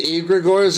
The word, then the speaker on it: egregore: It's egregore. Egregore. Yep. Egregore. It sounds like Igor.